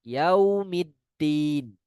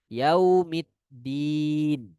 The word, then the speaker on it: Yaumiddin: Sebagian membacanya dengan menekan huruf dalnya. Yaumiddin, din. Tidak, ya. Huruf dal tidak dengan cara menekan di dal, bukan. Melainkan lidah kita berada di belakang gigi seri atas. Yaumiddin, din, ya.